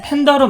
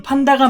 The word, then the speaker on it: 판다: 과거엔 미국식 발음인 팬더로 많이 불렸지만 외래어 표기법에 따른 정식 표기는 판다가 맞습니다.